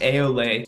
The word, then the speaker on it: Ayoley: My name's interesting because half the people can't pronounce it, which is all right, but it's pronounced Ayoley, and it's because my last name is Ley, L-E-Y.